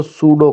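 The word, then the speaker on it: pseudo: लिख रहे हो तो सूडो कोड यह पी इसमें जो है ना साइलेंट होता है सूडो कोड लज है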